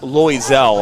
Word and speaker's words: Loiselle: card issued so uh pronounced lisel I will moving forward I will get that one right there is there is